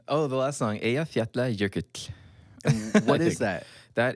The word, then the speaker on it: Eyjafjallajökull: Oh, the last song, Eyjafjallajökull.